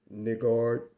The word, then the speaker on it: niggard: You got some people out there that says or pronounce the word NIGGARD. The actual pronunciation of this word is niggard.